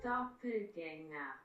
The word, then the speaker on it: Doppelgänger: mot qui est anglais, c'est un mot qui est allemand à la base et ça se prononce comme ça. Doppelgänger.